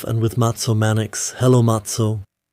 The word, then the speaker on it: Matze: Hello Matso. Hello. Greetings to all of you. I pronounced your name sloppily. Of course, it's Matso Manx.